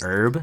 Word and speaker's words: herb: herb and cheese uh I keep saying herb it's actually herb I just like pronouncing the h M yeah when you're